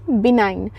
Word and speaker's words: benign: ठीक है, बिनाइन, BENIGN। यहाँ पे स्पेलिंग जो है इसकी अलग है, लेकिन इससे प्रोनाउंस हम अलग करेंगे, बिनाइन बोलेंगे।